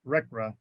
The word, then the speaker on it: RCRA: conservation and Recovery Act rcra usually pronounced rekra there are obligations or